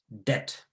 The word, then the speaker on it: debt: sorted so in summary we see debt and we say doubt and we say sorta we don't pronounce the b's in these three words thank you for having